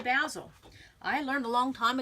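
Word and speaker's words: Bazzill: know how to say Basile I learned a long time ago it's razzle dazzle basil that's how you say it basil and so I'm going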